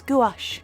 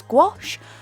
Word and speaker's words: gouache: I also have to point out every now and then that yes, I pronounce gouache as gouache. I am definitely aware it's sometimes pronounced as gouache, gouache.